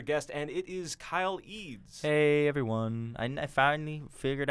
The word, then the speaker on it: Eads: I got AIDS once. Like E-Gag? I got literally a like teacher. Professor E-Gag? I had a teacher once pronounce it, substitute, go, is Kylie AIDS here?